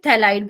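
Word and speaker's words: phthalide: हाँ, पी नहीं बोलते, थैलाइड बोलते, जैसे अभी मैं आपको कार्बोक्सिलिक एसिड में दिखाऊंगी थैलिक एसिड, फिर हम माइंस वाले चैप्टर में करेंगे थैलामाइड, तो पी is suppose to be silent.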